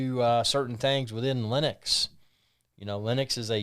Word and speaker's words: Linux: his name is linus he said that it's pronounced linux so linux think of linux is a poor